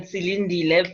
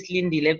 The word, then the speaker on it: Silindile: as I said to you, I'm used to people pronouncing it Silindile, but it's actually Silindile, but I'm okay.